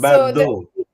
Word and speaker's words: Bardot: So Bardot. the T at the end is not pronounced. The T. There's no T. There is a T, It's but there is no T. it's a silent T.